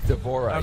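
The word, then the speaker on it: D'Vorah: divorce to do is it how do you pronounce her name devorah is that right devorah yes so what's the swarm queen she's like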